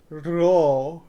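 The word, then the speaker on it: Rho: It is roll, roll, roll. It's rolled. Roll, roll, roll, roll, roll. Sounds like a motor engine almost.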